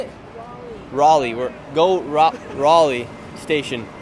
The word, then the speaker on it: Raleigh: it Raleigh or how do you say it Raleigh Raleigh we're go Raleigh station we got lots